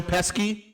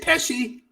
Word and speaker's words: Pesci: in the back, kind of like a Joe Pesci, you know, from freaking Casino. What you say there, motherfucker? You fucking talking to me? Like, kind of that thing. Isn't it Pesci? It is Pesci, but I wanted to say Pesci.